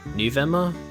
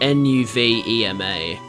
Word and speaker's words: Nuvema: It's spelled N-U-V-E-M-A. As a kid, I always pronounced it Nuvema, but maybe it's Nuvema.